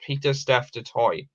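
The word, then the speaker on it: Pieter-Steph du Toit: outside of south africa peter staff detoi is pronounced peter steph de toy okay i've learned something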